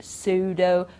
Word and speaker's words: pseudo: say psy we say science or psychology psychiatrist pseudo and then pn it's just okay pneumonia pneumatics okay we don't pronounce the p there at all so keep